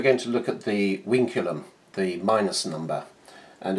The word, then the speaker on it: vinculum: it's a Latin word uh spelled vinculum but pronounced winum and in weic maths it is used as